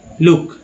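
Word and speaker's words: look: लुक में double O को क्या पढ़ा गया है तो पढ़ा गया ऊ लुक।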